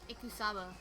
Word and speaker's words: Ikusaba: Makoto, well, all Kyoko told me was Mukuro Ikusaba, Ikusaba.